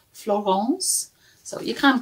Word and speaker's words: Florence: she is is called Florance so you can call her Florence if you want but she likes it to be pronounced in the French way she has French relatives